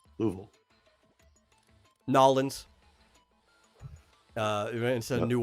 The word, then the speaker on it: Louisville: Louisville Louisville Louisville Kentucky it's not Louisville or Louisville it's Lou louv it's two two syllables louville noin uh instead of